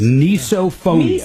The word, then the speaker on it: misophonia: Misophonia, I guess. Misophonia. It's a form of hypercusis. Miso, as in miso soup.